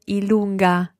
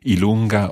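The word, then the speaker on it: i lunga: You can also hear ilunga, literally long I. Long I. Okay. So ilunga or J.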